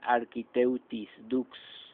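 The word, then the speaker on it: Architeuthis dux: científico es architeuthis books se pronuncia architect y books es la estrella indiscutible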